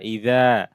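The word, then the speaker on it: إذا: হামজা জের ই, জাল আলিফ জবর যা, ইদা। ইদা জাল জিহ্বার আগা থেকে উচ্চারণ হবে, নরম করে পড়তে হবে। জবর পর আলিফ, মাদের হরফ টান হবে।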